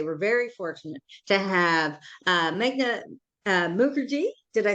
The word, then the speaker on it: Meghna Mukherjee: And we have here today, we're very fortunate to have Meghna Mukherjee.